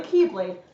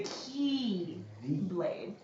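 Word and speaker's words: χ-blade: and darkness and it's spelled with the Greek letter Kai which they pronounce as key in this universe so I could call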